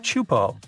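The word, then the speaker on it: Teahupo'o: all the name itself is a mouthful it's pronounced chupo and it means broken skulls in tahan yeah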